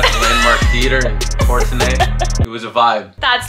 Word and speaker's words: Courtenay: It looks like Courtney, but it's like Courtenay.